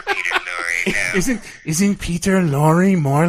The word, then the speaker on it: Lorre: German pronunciation, the proper pronunciation is Lore.